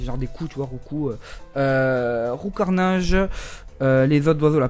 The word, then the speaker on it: Roucoups: Roucoul. Roucoul. Roucoups, qui se dit Roucou. J'ai été choqué, je l'ai su il n'y a pas longtemps. Voilà, Roucou. Roucarnage, c'est genre des coups, tu vois, Roucou.